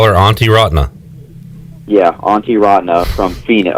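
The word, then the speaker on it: Antti Raanta: as best i can it's auntie rotna there's a lot of vowels all right it kind of sounds like you're your aunt and you just call her auntie rotna yeah auntie rodney from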